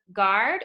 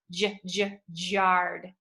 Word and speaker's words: guard: about the word guard does it sound like a hard G or a soft G guard or jarred it says a hard G so we're gonna leave that one we are not highlighting guard because that is a normal sound for a G it is not the soft G sound otherwise it would say jarred which doesn't make sense your body is fragile